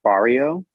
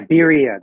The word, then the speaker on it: birria: Like, I've been trying really hard to find Barrio. Yeah. Am I saying it right? That's the tacos that you dunk. Oh no, quesabirria. Yeah, birria. That's what it is.